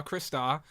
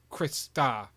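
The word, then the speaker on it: Crystar: even said it is Chris star Friday said Chris stars like Friday I would pronounce it as Chris star okay so on brand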